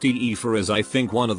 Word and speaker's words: Aoife: On this note, Aoife, pronounced Aoife, is I think one of the prettiest names out.